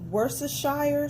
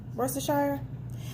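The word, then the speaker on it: Worcestershire: it's kind of like it reminds me of worse the Shire sauce that I said it right russer Shire it reminds me of worse the Shire sauce but with spices okay then we're going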